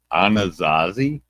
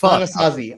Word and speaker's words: Anasazi: them yeah um it's the anazi is that's that's F Anasazi Anasazi Anasazi yeah yep totally I was